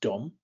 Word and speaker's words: dom: for house it's pronounced Dom and Dom just means home or house dumb now Dom kind of sounds like the English word Dome so imagine a dome